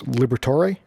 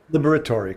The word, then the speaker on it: Liberatore: So, so welcome, and let me get your name correctly pronounced. It's Liberatore. Liberatore, correct.